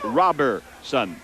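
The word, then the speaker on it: Roberson: R-O-B-E-R-S-O-N, but it's pronounced Robertson.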